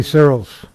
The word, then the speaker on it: Searles: The next card is from Zoe Searles. Did I pronounce that correctly?